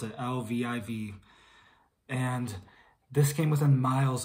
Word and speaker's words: Lviv: I believe that's how you pronounce it, Lviv.